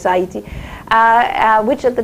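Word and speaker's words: Haïti: to what is now heti is that how you pronounce it heti what you when it's in French it's hati uh uh which at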